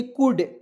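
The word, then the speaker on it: could: सीओ य एल डी कुड क्या हो जाएगा कुड कुड मीस होता है सकना तो सी का उच्चारण क के रूप में यू एल डी इसका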